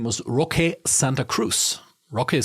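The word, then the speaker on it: Roque: Bayern in the early 2000s whose name was rock Santa Cruz rock is spelled r o q e and that also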